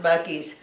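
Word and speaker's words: Buc-ee's: could spell it so to me it really says buses but it's pronounced Bucky's and so they've got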